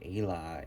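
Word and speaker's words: eala: The swan, or Ayla in its Gaelic pronunciation, soul, love, and beauty.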